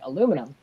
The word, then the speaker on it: aluminum: been pretty fine so people like to occasionally make fun of my pronunciation of things like aluminum yeah obviously aluminium over here so so i get